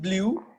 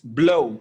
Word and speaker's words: blow: okay good yes okay so it's not blue at the end it's blow okay can you try